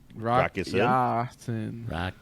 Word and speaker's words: Rakusin: How do you say his name exactly? Rakusin. Rakusin. Roll me away.